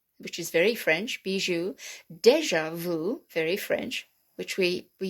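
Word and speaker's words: déjà vu: so beijing bijoux which is very french bijou deja vu very french which we we use all the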